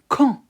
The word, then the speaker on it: quand: Quand. We don't pronounce D at the end. We just say quand.